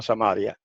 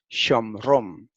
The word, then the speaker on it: Shomron: Gracias al griego otra vez, porque en el griego no se llama Samaria, perdón, en el hebreo no se llama Samaria, sino Shomron, que por el nombre del fundador, ¿verdad?